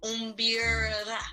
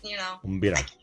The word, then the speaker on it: mbira: And yes, primary hobby, of course, is my array, and it's pronounced Mbira. Yeah. If you can pull your tongue a little bit, Mbira.